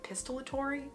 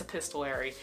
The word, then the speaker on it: epistolary: the word for it I always mispronounce this word epistory epistolary I think it's epistolary it's told in letters and